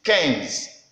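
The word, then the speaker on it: quinze: many students out there the prolonged is written in French as Queens because I've seen cure them native the best way our normal way to pronounce it is Cannes Cannes Cannes then 16 another problem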